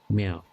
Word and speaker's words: Mia: pronounced as meow, not meow. Okay, more like meow.